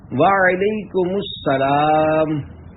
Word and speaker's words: وعلیکم السلام: جواب سناتا ہوں، پھر آپ اس کو دہرائیے۔ وعلیکم السلام۔ رضائے حق کے لیے تم سلام عام کرو،